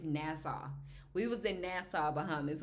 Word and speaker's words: Nassau: It's Nassau.